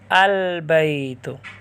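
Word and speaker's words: البيت: کا تلفظ کریں گے۔ بیتن گھر، اس پر آپ الف لام داخل کریں تو با حروف قمریہ میں سے ہے، شمسیہ میں سے نہیں ہے، تو الف لام کا تلفظ کریں گے، لام کا تلفظ کریں گے البیت۔ اسی طرح تمرن کھجور،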